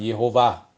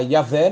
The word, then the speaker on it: Jeová: de Isaías mas o nome era pronunciado Jeová Jeová Elohim Jeová Deus há muitas indicações disso pega o cântico de Moisés Êxodo 15 e lê lá na pronúncia lá vai rimar direitinho agora se você usar yavé não tem nenhuma rima perde a rima e é um Cântico